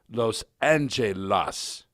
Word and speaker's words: Los Angeles: with the so-called jury Los Angeles should be pronounced as it reads that is Los Angelas and I also wish